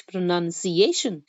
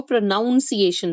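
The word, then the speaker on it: pronunciation: accurate describe and teach प्रोनंसिएशन अब कई लोग इस वर्ड को प्रोनाउंस एशन बोलते हैं राइट तो अगर आपको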